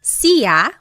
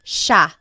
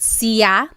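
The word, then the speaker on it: siya: It looks like it should be pronounced sa, but it's actually pronounced sha sha. There are some regions in the Philippines that might pronounce it sia, but for the most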